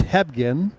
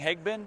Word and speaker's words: Hebgen: It's Hebgen. Hebgen. Yeah, H-E-B. Oh, was I saying Hegben? Yeah, Hebgen. everybody does it. You're not the first, you're not the last.